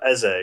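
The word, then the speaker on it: Eze: play maker you've got essay is how you say his name he's actually really good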